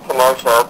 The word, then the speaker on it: Kenotia: Everyone knows, we were Kenotia, Kenotia, come on to different stuff, but it's Kenotia, so that's why we were actually needing to put something on our MySpace, the proper pronunciation of it, just so people know how to say it.